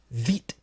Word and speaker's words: wit: Remember, is a classic Belgian wheat. W-I-T. I can only assume that's pronounced wheat.